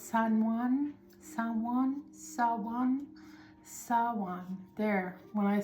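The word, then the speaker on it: Samhain: It's not Sam Hayne. It's San There.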